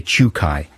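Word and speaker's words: Czukay: pronounce this guy's name holger c zed uk a why i would say chukai i'll agree with you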